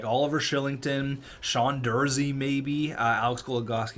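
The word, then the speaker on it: Kylington: a nice contract sorry it's not Oliver Killington even though it's spelled like that it's Oliver Shillington um he looks like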